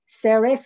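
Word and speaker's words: Sarif: We have started up another foundation, which is called, you know, I'm dyslexic, so to pronounce, Serif, it's S-A-R-I-F Foundation.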